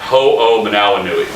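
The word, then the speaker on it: Hoomanawanui: the hardest name that I've ever had to pronounce the Patriots at a tight end who's now playing for the Saints called hoo mandala nui that's his name so for a week leading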